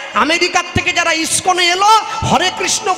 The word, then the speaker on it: হরে কৃষ্ণ: আমেরিকার থেকে যারা ইস্কনে এলো, হরে কৃষ্ণ বলতে পারলে হ্যারে কৃষ্ণ, হ্যারে কৃষ্ণ উচ্চারণ হয় না তো, ইংরেজিতে কথা বলে।